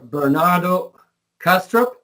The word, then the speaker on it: Bernardo Kastrup: Bernardo Kastrup is that correctly pronounced um that's correct yeah Bernardo has a